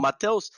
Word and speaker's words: Mateus: Kon Jor correct pronunciation Matel Matel was was uh South X accent and Matos is like more a real accent and Northeast accent so you can say both